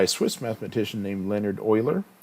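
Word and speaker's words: Euler: Swiss mathematician named Leonard oer this is how you pronounce his name oil like the Houston Oilers back in the day uh table 15 suggests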